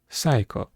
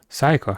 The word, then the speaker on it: Saiko: My name is Saiko, which is written with the words for sin and child, pronounced Saiko. Saiko, huh?